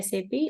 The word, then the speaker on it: SAP: like sap or something you have to always pronounce as a sap and the full form would be system application